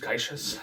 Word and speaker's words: caixa: middle register, and they're played by drums like caixa drums, it's spelled Caixa, and they look like marching snares, but like the snare is like on the outside.